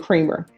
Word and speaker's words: Creamer: There's to be no contact with um Vargas, Thirsten, Eurea, Gets, and Creamer. Did you understand that to be the plea? I'm sorry, but that's the way I said it. It's creamer.